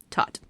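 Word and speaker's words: Thoth: Um the next one are is ibises and thought or tot sorry not thought tot. Um so as we learned before ibis is an elegant um bird in a way and represents um tot who was the god of wisdom writing and magic.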